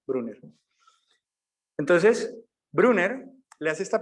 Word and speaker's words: Bruner: qué es que bruno así como se pronuncia se escribe con b grande brunner entonces brunner le hace